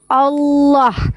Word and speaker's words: Allah: Kaidah bahasa Arabnya itu lamnya itu harus tebal, ditafkim, bacanya Allah. Makanya namanya adalah Allah bukan Allah.